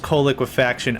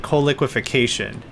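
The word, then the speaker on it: coal liquefaction: It's pronounced co-quafaction. I like to pronounce it co-quation.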